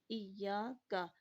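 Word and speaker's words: إِيَّاكَ: تو ایاک، یہاں پہ کاف کو زیادہ کھینچنا نہیں ہے۔ اگر بعض لوگ کرتے ہیں کہ ایاک نعبد، کا الف کے ساتھ آواز ملے گی تو یہ یہاں پہ تلفظ غلط ہو جائے گا، ایاک، کاف زبر کا ہوگا، ٹھیک ہے؟ تو ہلکی سی اس کی آواز کے ساتھ آگے بڑھیں گے، ایاک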